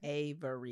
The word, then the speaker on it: Avery: Oh, so, Avery has 3 syllables. Sorry, go ahead. Avery, yes.